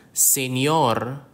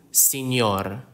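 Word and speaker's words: señor: is commonly used in Filipino names examples are senor senor senor is Mr in Filipino or also in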